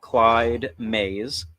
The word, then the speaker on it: Clyde May: to be a whiskey called Clyde Ma and I guess that's kind of the right pronunciation of it there yeah like Willy ma like Billy Billy this whiskey so it's